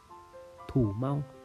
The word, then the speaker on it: thủ mau: là từ nhức đầu nhức đầu trong tính Nùng đọc là thủ Mau thủ Mau thủ Mau các bạn